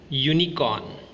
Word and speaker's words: unicorn: Now let's pronounce the following: uniform, European, unicorn. All these words begins with the phonic sound u, yu, which is a consonant sound.